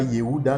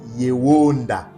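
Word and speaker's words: יהודה: concordance des 03063, et Edom le prononce Yehuda, mais ce n'est pas Yehuda, nos pères le prononçaient Yewonda.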